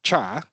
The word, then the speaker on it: char: Those are the ones we call uh uh we we pronounce it as char but it's actually referring to character size.